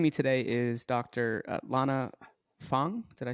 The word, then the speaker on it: Feng: pronounce it uh correctly most people just pronounce it fan it's funny it's almost